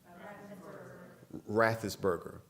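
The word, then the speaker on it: Raffensperger: his last name forgive me um how's it pronounced rathis burger okay you know who i'm talking about brad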